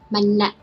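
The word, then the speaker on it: မနက်: So the first one is ma alphabet and second one is na and a. So we pronounce na. Altogether, manna. So in this case, when you see this dash, you have to pronounce continuously. So that's why we don't pronounce manna, we just pronounce manna.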